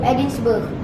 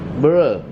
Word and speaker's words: Edinburgh: And because of that, she moved to Edinburgh with her daughter Jessica. Edinburgh? Edinburgh, it's a place. Scotland. Edinburgh. Edinburgh. Edinburgh. Burr. No, Edinburgh. Edinburgh. Scotland, right? In Scotland, come. Edinburgh. Yeah, that's correct pronunciation.